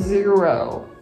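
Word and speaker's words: Xero: this is from a company called zero spelled with an x and i'll put the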